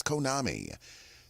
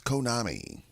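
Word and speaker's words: Conami: day for today and today's kalinago word is Konami that's Konami and uh that's spelled c n a m i c o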